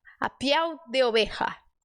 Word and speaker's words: piel: dizer assim ó a Piel a Piel de oja e até saiu bem esse oja Então sempre que você ver um l no espanhol você vai fazer o l bem forte pi Olha chato